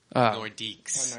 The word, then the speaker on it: Nordiques: With the way it's pronounced. Can we... It's the French word for northerner. Nordique. Nordiques.